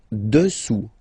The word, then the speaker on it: dessous: Dessous, dessous. Final S not pronounced here.